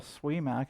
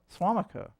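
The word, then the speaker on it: Suamico: in Wisconsin, but if you're here in Little Swimac, is that how you pronounce it? Swamac? Sorry, my bad. I'm not a local. Little Swamac. Swamico.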